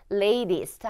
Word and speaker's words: latest: 자, 그 다음에 여기 here is the latest 여기 부분은 발음하실 때 L 발음 있으니까 좀 체크를 해주시고 latest 하면서 조금 더 끌어서 소리를 내주시면 되겠습니다.